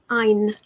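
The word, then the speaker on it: Ayn: after a Scandinavian writer so it is Ein as in mine like mine minus the M anyway Ein Rand what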